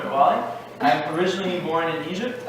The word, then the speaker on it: Metwally: If it's not pronounced properly, Metwally.